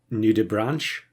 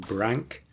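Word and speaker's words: nudibranch: play this pet and everyone is pronouncing it nud Branch um which is understandable because that's probably what you would expect looking at the spelling having watched some nature videos it does seem to be that it is pronounced Brank um so yeah we'll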